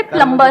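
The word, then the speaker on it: plumber: सर जैसे प्लम्बर, करते हैं।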